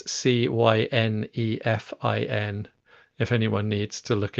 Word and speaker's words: Cynefin: And yeah, I think I mentioned the Cynefin framework, which people can find. Um, it's it's a Welsh word. I've pronounced it slightly wrong. That's as close as I can reliably get to Welsh. It's Cynefin, if anyone needs to look it up.